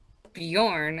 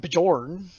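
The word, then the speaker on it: Björn: gonna look over at bjorn i'm gonna probably massacre this name sorry don't worry it's just an easy name just don't pronounce the j it's not jorn yeah i was gonna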